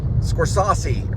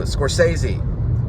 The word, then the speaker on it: Scorsese: It was called Taxi Driver and I said his name was like Scorsese or something. And then I hear this guy in the corner of the room go, Scorsese.